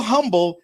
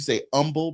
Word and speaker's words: humble: So humble. You know, when you're from Texas, you say humble because of the city, but it's actually humble. Humble. Pronounce the h y'all.